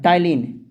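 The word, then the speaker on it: ptyalin: दूसरा नाम है टाइलिन, पी साइलेंट होता है टाइलिन, TYLIN PTLYN टाइलिन।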